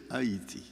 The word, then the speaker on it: Haiti: I know you pronounce Haiti, Haiti. In French, we say Haiti.